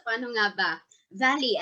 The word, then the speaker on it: Vallée: Valley, as in valley.